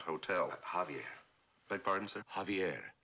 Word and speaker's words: Javier: Javier, not Javier. The the J is silent. You pronounce it like a H.